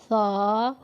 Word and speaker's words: ث: لہجہ میں ادا کریں۔ اردو تلفظ سے پرہیز کریں، یعنی بے، تے، سے، ہے، خے، توئے، زوئے وغیرہ ہرگز نہ پڑھیں، بلکہ با، تا، ثا، ہا، خا، تا، زا پڑھیں۔ ان 29 حروف میں